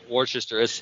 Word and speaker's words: Worcestershire: pronounced it so yeah we just leave off the Shire all together down here yeah Worchester we would say Worcestershire